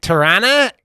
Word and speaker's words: Toronto: outside of Toronto okay Toronto Tarana Canada we say that's weird because we say Toronto but every here everyone says Toronto yeah there's no RT in it right for some reason we just stopped pronouncing it all right um I